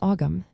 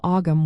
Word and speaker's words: Ogham: The middle GH is generally silent or softly pronounced, so it does not sound like a hard G. You will find that the word is typically spoken as one syllable.